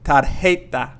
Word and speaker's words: tarjeta: again we're not going to say tarjeta but we're going to say tar heita identification identification means identification